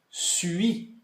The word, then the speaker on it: suis: Então assim, a minha dica que eu sempre dou é de você fazer o som do U com a boca, U, e você pronuncia o som de I.